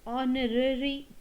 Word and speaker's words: honorary: one he is the honorary teacher now the same sound which is in honest the second one the same comes your honorary h is silent here so he is an